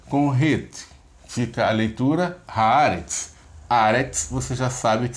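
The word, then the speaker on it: הארץ: Haaretz, ok? Haaretz. E também é interessante a gente dar essa informação, acho que já dei algumas vezes, quando tiverem 2 vogais idênticas, a sílaba tônica fica na primeira, tá?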